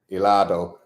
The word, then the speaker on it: helado: Helado. Remember, in Spanish, when you see a H, it's never pronounced a H.